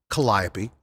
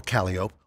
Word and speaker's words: Calliope: Charles on the parade route, like Melpomene or Melpomene, Calliope or Calliope, or Terpsichore or Terpsichore, it's New Orleans. You can pronounce them any way you want.